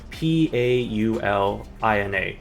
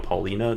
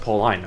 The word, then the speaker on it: Paulina: P A U L I N A. You would think, oh, Paulina, right? You know, that's obviously makes sense. You know, Paulina, that's a name sometimes and it's just like,